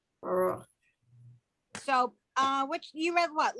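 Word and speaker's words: ברוך: so all the words you read, they have to be huh, huh, huh, huh. You keep making it like a K. Okay, it's better to be a huh. Baruch, So, which you read what?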